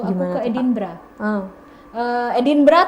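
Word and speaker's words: Edinburgh: Eh, Edinbra tulisannya Edinbg. Edinburg. Oke. Bacanya Edinb. Edinbra gitu.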